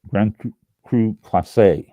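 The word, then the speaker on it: Grand Cru Classé: Oh, I was right. Grand Cru Classe.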